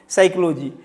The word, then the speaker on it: psychology: यह P silent mode में रहता है।